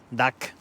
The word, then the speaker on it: Duck: Hoy vamos a hablar de Duck DNS, creo que se pronuncia duck en inglés, pato.